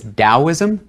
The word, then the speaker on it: Daoism: So it's Daoism and Lao Tzu.